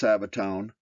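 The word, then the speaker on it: σάββατον: for Sabbath is Greek Strong's number 4521 Sabaton pronounced Sabaton meaning the seventh day of the week who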